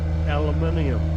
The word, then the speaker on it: aluminium: Aluminum or Aluminium. aluminium? We got an extra I in ours, we spell it a little bit Okay.